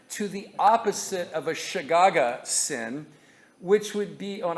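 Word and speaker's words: שגגה: It's actually pronounced like this. I thought it was classic. Shagaga.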